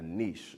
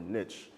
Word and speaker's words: niche: want to make sure that you're picking a niche or a niche, depending on how you pronounce it, with who you're going after.